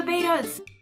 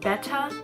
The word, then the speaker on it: Betta: to know about the beta's before I start apparently I've been saying bethe wrong apparently it's pronounced betcha but I've been saying beta I'm sorry like someone